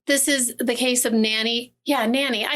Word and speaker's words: Nannie: go me well see I would think Nanie no it's n a n n i e it's Nanny okay okay anyway or Nong